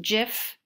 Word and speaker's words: GIF: would show that and it's actually pronounced jiff not gif my students would correct